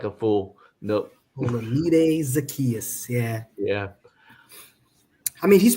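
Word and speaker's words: Olamide Zaccheaus: Oh, Olamide Zacchaeus. You said it. Yeah, I was going to try to. I don't need to butcher nobody's name. Look like a fool. Nope. Olamide Zacchaeus.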